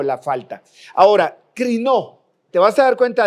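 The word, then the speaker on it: κρίνω: Y es una palabra que se va a pronunciar como crinó en el griego, que es el idioma en el que fue escrita esta palabra del Nuevo Testamento.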